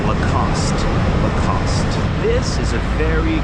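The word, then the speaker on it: Lacoste: That final e is silent. Lacost.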